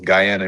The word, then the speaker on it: Guyana: got a fever basketball player from, forgive me if I'm saying it wrong, Guyana, if I'm not mistaken. Yeah, that's close. Guyana.